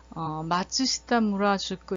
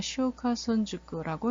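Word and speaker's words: 松下村塾: 그래서 저는 이거를 맨 처음에 가서 읽을 때 마츠시타 무라주쿠 이렇게 읽었는데, 마츠시타 무라주쿠가 아니라 쇼카손 주쿠라고 읽는다고 해요.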